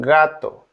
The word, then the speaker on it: gato: Letter G is pronounced as a G in gato.